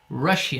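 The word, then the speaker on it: Russia: eu moro na rússia é que se escreve igual em inglês mas a pronúncia um pouco diferente aí eu levo em rússia a os pés palavra rússia comigo inglês é rashid bom e você guardou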